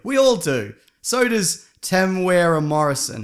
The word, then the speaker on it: Temuera: So does Temuera Morrison.